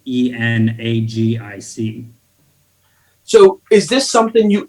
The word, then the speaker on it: Enagic: Can you spell it? Yeah, Kangen water. Kangen. It's made by a company called Enagic, Enagic.